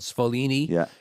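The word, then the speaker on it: Sfoglini: So, the original version of Cascatelli is made by a company called Spolini in upstate New York. It's spelled SF O G L I N I. It's the G silent, but it's in stores around America.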